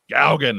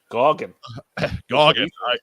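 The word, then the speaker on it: Gauguin: Gaugen, that's how it's pronounced. Like ow, but with G's. Okay. All right. What up, G? Goggin.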